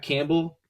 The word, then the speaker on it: Campbell: first round uh Jack Campbell I mean his name rhymes with gamble so maybe that's why